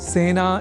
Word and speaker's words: सेना: एक शब्द है सेना जिसका प्रयोग सेना इस रूप में ही करना चाहिए क्योंकि सेना में स इस अक्षर के बाद ए इस अक्षर का प्रयोग हुआ है। अतः सेना इस शब्द के उच्चारण में ए इस स्वर वर्ण या अक्षर का ही प्रयोग किया जाना चाहिए ना कि ऐ का।